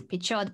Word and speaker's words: Pichot: In Spanish, you do pronounce the CH as ch, and that the T doesn't disappear. Pichot. So in that sense, mm-hmm. It's Pichot, but maybe that's not...